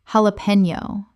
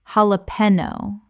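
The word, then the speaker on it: jalapeño: Sorbet sorbet Word 36, jalapeno. Common mispronunciation: jalapeno. Correct pronunciation: jalapeno. The J makes an H sound in Spanish, and the N Y makes a knee sound.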